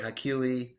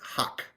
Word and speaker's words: Haque: Haque, Hakui, Hoke, Hake. It's just Huck.